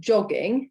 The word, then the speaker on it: Jogging: almost always a yeah some words that have come from like english or french um the j is pronounced like the english so the word for genes is genes genes um and jogging in german is john joggin um other than that